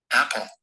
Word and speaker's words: apple: LE has a schwa sound. So when you have LE, so it will definitely take one syllable, as I told you. So it will be AP and then PLE.